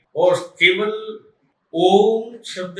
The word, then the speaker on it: ओम: नहीं सकते और हा ओम शब्द का आपको करना पड़ेगा और आपको महसूस करना पड़ेगा कि ओम शब्द जो है यह तीन ध्वनियों से निकला हुआ है आ उ और मा अर्थात इसका सही उच्चारण